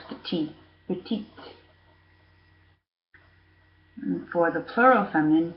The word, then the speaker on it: petite: we're actually pronounced ee we're pronouncing the final consonant petite petite for the plural